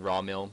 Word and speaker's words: Rawwwrmill: I keep saying raw mill because I don't want to pronounce the R. It makes it harder.